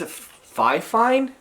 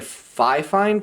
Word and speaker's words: FiFine: me, is it says FiFine. Like, I don't know if you can see that very well. So it's like FiFine, but they pronounce it fine, like it's in two words, like two syllables, which is kind of cool.